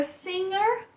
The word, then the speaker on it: singer: G de gato e na palavra singer a gente não faz o G de gato. A gente faz esse que não existe no português.